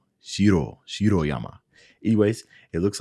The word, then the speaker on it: Shiroyama: yama now i think i think in japanese they pronounce the rs with the top of the tongue top of the roof so shiro shiro yama anyways it looks like